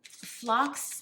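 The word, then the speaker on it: phlox: in Spring and uh flocks it's spelled p-h-l-o-x it is the Greek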